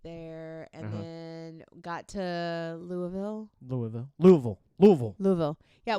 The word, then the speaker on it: Louisville: to say it and they said Louisville Louisville Louisville Louisville yeah not Louis I was saying I say